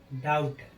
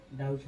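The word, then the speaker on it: doubt: नियम नंबर 1, जब किसी वर्ड में बी के बाद टी हो तो बी का उच्चारण नहीं होता है। जैसे डेट, डेट माने होता है क्या, ऋण। डाउट, डाउट माने संदेह।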